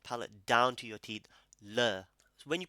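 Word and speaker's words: ਲ਼: Le. So when you pronounce nana and rara, it's flicking from the back.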